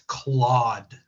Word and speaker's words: Claude: we have list documents please stop pronouncing it that way it's Claude it's CLA so